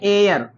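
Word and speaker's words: heir: अगला वर्ड हमारा है एयर। इसमें भी यच साइलेंट है, एयर का हिंदी होता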